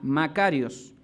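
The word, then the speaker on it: μακάριος: Del griego Makarios, con K y con acento en la A, Makarios.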